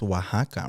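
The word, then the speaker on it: Oaxaca: or something like that oaka yeah but it's pronounced Waka right I don't know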